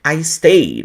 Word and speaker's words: stayed: no no YouTube ó você não pronuncia a vogal a letra e nos verbos no passado então isso aqui é uma